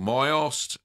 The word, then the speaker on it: Mysost: It's called Myost, and if Kim can quickly get the link, it's spelled Mysost, Kim, and Eric will be able to find that.